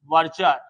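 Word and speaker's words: verdure: Guard है एसएलवी वर्जर, इसे pronunciation में डी नहीं आएगा, वर्जर वी आर डी यू आर E, pronunciation is वर्जर।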